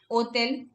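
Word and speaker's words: hôtel: Hotel. Okay. Hotel. Somewhat like hostel, hotel. They eliminate the s.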